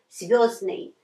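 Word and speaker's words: звёздный: Звездный. Зданый. We just drop this д. We just drop it. And it will be звездный in pronunciation.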